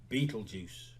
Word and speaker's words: Beetlejuice: against juno's advice and hire beetle guys pronounced beetlejuice it's showtime step up